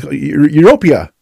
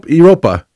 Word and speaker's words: Europa: The word was, which I kept mispronouncing over and over again, as Europea, I think it was Europea. Yeah, you were saying Europea. And instead of Europa.